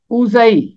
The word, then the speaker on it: اوزئی: آیت میں آتا ہے اوزئی، اوزئی، زے کے اوپر زبر ہے، آگے چھوٹی یہ ہے، اوزئی۔ اب میں آپ کو